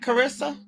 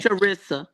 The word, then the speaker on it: Charissa: So is that Carissa? Chapman. I hope I'm saying that right. I hope I'm not mispronouncing your name. Charissa. Charissa. Okay, that the CH is okay.